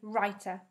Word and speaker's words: writer: A W becomes a silent letter if it comes before the letter R in a word. So that means we can't hear the letter W when we say the word.